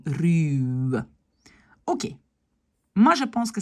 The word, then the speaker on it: ruwe: Uren, dur, ruwe, hein, quand il y a un W derrière, oups, c'est aussi un long U, ruwe.